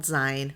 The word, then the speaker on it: zine: It's spelt Zine, but it's pronounced zine, like magazine.